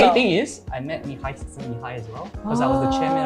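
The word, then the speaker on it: Mihaly: Mihail, and I So don't want to he bother was one of our pronouncing his last name.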